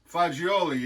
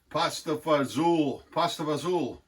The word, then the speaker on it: fagioli: And that's because I work with Carlo Galazzo, and it was fagioli is bean in Italian. So I don't know why Americans, we always pasta fagioli, like they can't pronounce it properly.